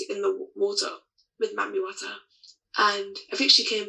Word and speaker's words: Wata: Wata, W-A-T-A. Okay. So water, but not water.